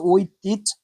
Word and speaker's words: ঐতিহ্য: তারপর ঐতিহ্য শব্দের উচ্চারণ সঠিক উচ্চারণ হচ্ছে ঐতিজ।